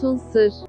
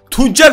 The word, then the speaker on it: Tuncer: Mahmut Tunsır. Mahmut Tunsır mı? Tuncer lan o.